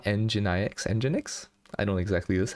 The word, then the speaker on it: nginx: also had to install the um it's called engine ix nginx i know exactly this how to say